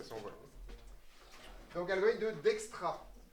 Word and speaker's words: Dijkstra: Donc, algorithme de Dijkstra. Si vous voulez vous souvenir comment ça s'écrit, c'est D-I-J-K, comme dans l'alphabet. Et après, Stra, comme ça se prononce pour le coup, d'accord?